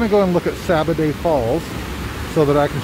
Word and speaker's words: Sabbaday: But this brook is called Sabbaday Brook. It's spelled S-A-B-B-A-D-A-Y.